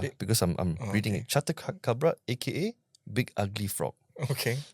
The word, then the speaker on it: Chatacabra: Right, like the Chatacabra, aka. That's you said it right. Oh, because you read it. Because I'm reading it. Chatacabra, aka Big Ugly Frog.